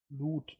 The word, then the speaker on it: Lud: Falls ihr euch wundert, wie wird's im Englischen, also wie wird's im Hörbuch ausgesprochen? Lud.